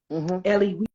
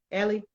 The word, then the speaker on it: Elie: Ellie, okay, Ellie. I've had people pronounce it, but it's Night, and it's about the Holocaust.